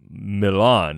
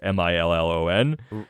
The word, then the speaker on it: Milan: thomas edison's birthplace dean pronounces the town uh milan ohio as like mil like m-i-l-l-o-n right but the actual pronunciation is milan it is yeah yeah